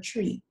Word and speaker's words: three: calling out the numbers i don't want to hear number three there is no number called tree arbol numero arbol i